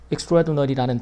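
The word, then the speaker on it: extraordinary: xl들이 이건 이제 떨어뜨려서 말하면 엑스트라 오디너리고 하나로 발음하면 extradinary라는 다 익스트레더라는 단어가 되는데 이게 이제 아주 평범한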